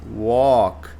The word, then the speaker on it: walk: Aqui, walk. E aí o L é mudo, não é walk.